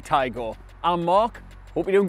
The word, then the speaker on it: Taigo: Not Tiago, definitely Taigo.